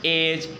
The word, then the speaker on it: edge: Silent होता है आपका, जी से पहले अगर आया है अक्षर, ठीक है ना, पहले आया है तो हम डी को क्या पढ़ेंगे, साइलेंट पढ़ेंगे।